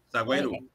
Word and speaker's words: Saguairu: Saguairu. É assim que pronuncia. Isso, é essa pronúncia mesmo.